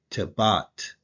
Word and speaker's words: Tebat: And since this right here is a tall, you're gonna use the R sound. It's the R, so it's the te, tebat, tebat. That's how you pronounce it.